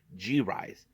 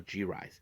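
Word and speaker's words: G-RIZE: brand new faction called gise so uh hopefully I can pronounce it right here is G Dash r i z e so gise so they have like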